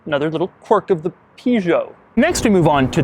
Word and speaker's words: Peugeot: I say Peugeot, as most Americans do. British people say Peugeot. French people say Peugeot, and Ivan in Spanish, he's saying Peugeot. There's a lot of different ways to pronounce it.